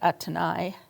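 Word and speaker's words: Athénaïs: Um his mistress um I pronounce it Athan, but in French it would be more like Atani.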